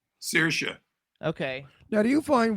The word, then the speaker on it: Saoirse: So how do you pronounce her name? Saoirse.